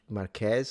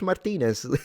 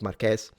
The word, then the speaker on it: Marques: He is the guy who, you know, Marques is the one who Did I pronounce his name right? MKBHD, yeah. Mark Marques is his name cuz I always have a